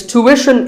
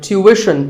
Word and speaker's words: tuition: Like the word tuition. It's tuition in American English and tuition in British English. So what's the hidden sound here? Well, the first syllable is easy. Tu, American, or tu, British. But after that, it's not ishin, it's wishin. Tuition. You have to put the w sound there.